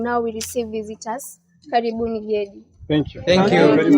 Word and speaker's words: Gedi: So in the year 1884, that's when Gedi was discovered by a person known as Sir John Kirk, then forgotten for 50 years.